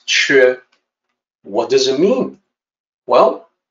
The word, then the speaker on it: 缺: 缺, and I know it doesn't look like the pinyin. The pinyin looks like it should maybe be sounded off like Q. It's spelled like Q. Well, this is another weakness in the pinyin system. The actual sound in Mandarin is 缺.